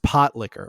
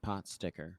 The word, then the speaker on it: pot liquor: Um, Lana does like a It's pronounced pot liquor, right? Yes. Okay. It was confusing me. Not pot sticker.